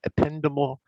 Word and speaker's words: ependymal: And that's how you pronounce those words: astrocyte, microglia, ependymal cells, oligodendrocytes, and Schwann cells.